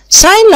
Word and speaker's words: sign: sign language يا جماعة هي لغة الاشارة، ناخد بالنا جي وراها ان مش هنطق جي، silent letter.